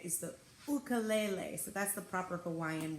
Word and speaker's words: ukulele: ukulele lesson so the ukulele which also the proper way to say it is the Fulco lele so that's the proper